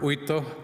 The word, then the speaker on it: Uitto: I'm Vito, or Uitto, as Pastor Jari would pronounce properly, from Harborview Funeral Center.